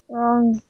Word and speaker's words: wrong: Wrong. Wrong. W hilang Wrong. ya. Jadi dimanapun kalau ada W itu hilang. Sama W sama K hilang.